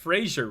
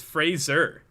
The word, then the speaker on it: Fraser: mad at me because apparently i pronounced frasier wrong apparently it's fraser not sure not sure but i ca so now i'm being ripped on it's like it's fraser minton not frasier minton fraser i've always said